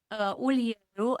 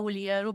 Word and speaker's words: Ulieru: how do you pronounce your last name? Ulieru, and maybe as many, or maybe some of your listeners know, I go by Dr.